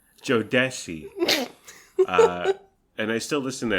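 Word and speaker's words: Jodeci: But don't you still listen to like Joe DC or whoever? Joe DC? Who was it? Did I say it wrong? Honey. How do you say it? It's Joe Desi.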